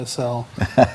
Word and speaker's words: ACEL: Let's roll back in time and talk about the road to ACEL. and I'm saying it right too, right? ACEL, yes, thank you.